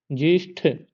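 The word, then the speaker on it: ज्येष्ठ: विष ऐसे उच्चारण करिए जेष्ठ टा टा नहीं आएगा ठ आएगा जनतांत्रिक देखो इसमें लेखन जनतांत्रिक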